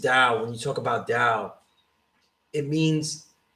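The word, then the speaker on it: Tao: spell it down yeah it's pronounced dao but it's t-a-o you really shouldn't read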